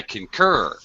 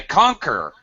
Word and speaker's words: concur: have mentioned this before I concur notice how I very much use use higher pitch on the second syllable what happens if I stress the first syllable think about this I conquer I'm saying a totally different word I don't know ah